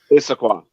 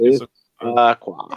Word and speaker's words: Issaquah: Issaquah. So it's Issaquah.